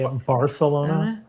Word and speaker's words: Barcelona: Barcelona. Yeah. I got a friend of mine. I think they al they actually say Bartholona.